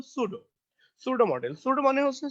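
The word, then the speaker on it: pseudo: দেখেন এটার উচ্চারণ কিন্তু সুডো, সুডো মডেল।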